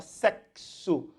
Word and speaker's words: sexo: 12345 çom cinco fonemas fala sexo também tem esse ks aqui então tem que